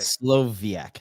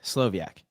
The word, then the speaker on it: Slowiak: I I think the w means that you're pronouncing two v's so that's right Slovak Slovak yes Slovak yes strong powerful and we're great